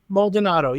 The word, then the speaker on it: Maldonado: pronunciation of your surname is it moldonado am I getting that right moldonado yes correct perfect I realized we